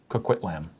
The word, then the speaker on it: Coquitlam: C-O-Q-U-I-T-L-A-M. Coquitlam. But pronounced Coquitlam because no one says words properly.